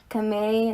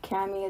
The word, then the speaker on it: Kamei: I'm Kamei, not Cami, it's pronounced Kamei.